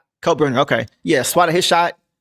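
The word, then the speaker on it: Kalkbrenner: Is it Kyle Brener? Uh Cal Brener. Yeah. Coburner.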